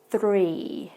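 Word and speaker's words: three: However, you can tell at the beginning there is a slight difference between the pronunciation of the vowel. So with the first one we said free, the second one we say 3. So you can tell that my tongue rolls a little bit for the number 3.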